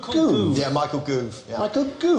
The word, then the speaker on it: Gove: It's Goove, as in movement. It's pronounced Goove. It's pronounced Gove.